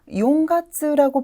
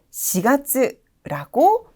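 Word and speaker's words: 四月: 4월은 많은 학습자분들께서 자주 용가츠라고 발음하는 현상을 보게 돼요. 절대로 안 됩니다. 반드시 4월을 말할 때는 시가츠라고 발음을 고정시켜 주셔야 됩니다.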